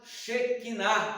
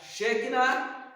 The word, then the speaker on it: Shekinah: conjunto nome de músicas chamado Shekinah ou chequina né uns prefere pronunciar chega na outros pronunciam a palavra China que é uma palavra